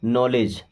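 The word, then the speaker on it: knowledge: एक और word no से बना हुआ है नॉलेज। क्या बना है? नॉलेज। नॉलेज का मतलब क्या होता है? जानकारी। ठीक है? यहां पे भी के हमारा साइलेंट ही होता है।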